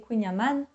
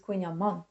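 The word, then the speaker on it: Kouign-amann: Et juste une chose, beaucoup de Français, ils disent, Kouign AmAnn ma sœur, elle m'a dit, Non, c'est Kouign AmaANn la prononciation est importante.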